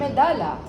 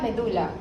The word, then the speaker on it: medulla: a brain eration is the Meda medala medala medulla depends where you come from but both an know both pronunciation is correct remember your medala is